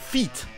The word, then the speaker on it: feet: Pour tous les mots en 2 E, EA, IE ou E, c'est en fait le son I, comme le son du I en français. Mais pour les mots avec un I, ça va être le son E.